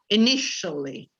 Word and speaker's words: initially: Be careful with the pronunciation because this is the some like shower. Initially.